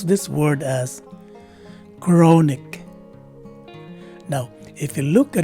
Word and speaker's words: chronic: in the first syllable the letters c and h take a single letter k sound and the letter o